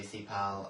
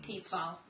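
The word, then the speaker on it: Thiepval: Yeah, and then I do Thepal and... Teepval.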